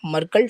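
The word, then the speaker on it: Merkle: तो इसका क्या प्रोनाउंसिएशन होगा देखना। मरकल ट्री इसे हम समझते हैं क्या होता है?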